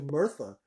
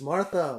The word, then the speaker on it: Martha: to mispronounced your name my conscious called you Bertha it's Martha Martha wheel then she is